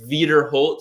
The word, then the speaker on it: Wiederholt: germans they they say vader holt so they pronounce the w v and my dad is